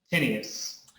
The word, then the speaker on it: Tinius: Tinius. Just how it's spelled.